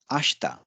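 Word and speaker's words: あした: Ashi this is leg ashta ashta is tomorrow and uh the point to be noted here is that although it is written as ashita the pronunciation will be ashta she will be pronounced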